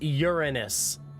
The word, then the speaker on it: Uranus: It's Uranus, chat. That's the pronunciation.